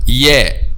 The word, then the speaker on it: ي: The middle part of the tongue touches what lies opposite, which is the roof of the mouth. Ay. Ay. أي أي بني اسمع وصايا يا جماعة. So this is how we pronounce the letter Ya.